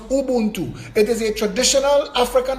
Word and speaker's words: Ubuntu: The word Ubuntu originates from one of the Bantu dialects of Africa and is pronounced Ubuntu.